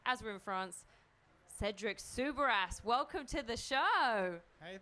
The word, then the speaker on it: Soubeyras: Do you want really me to say it as a French person? Yes. Cedric Soubeyras. Yeah, this is the right way.